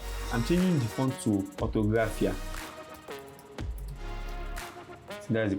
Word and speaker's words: Orthographia: I'm changing the font to orthographia. So that's the pronunciation. Yeah, orthographia.